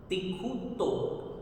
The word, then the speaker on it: तिक्खुत्तो: और यहाँ त पर भी आधा त है, तो इन दोनों बातों पर ध्यान देते हुए, दोनों आधे अक्षरों पर ध्यान देते हुए इसकी प्रोनाउंसिएशन बनेगी तिखुतो। तिखुतो, क भी आना चाहिए और ये आधा त भी आना चाहिए। तिखुतो, जिसका अर्थ होता है 3 बार।